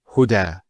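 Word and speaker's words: هدى: Now this is not actually a ya, it's an alif. It's called an alif maqsura, and it's exactly like an alif, the way it's pronounced. It's like a ya, without the 2 dots. So we say huda.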